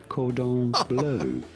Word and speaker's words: cordon bleu: It is said cordon bleu. He knows how to spell Chris Krebs. Please. It's like the first time Of you've gone to course. a restaurant. Could I have some cordon bleu?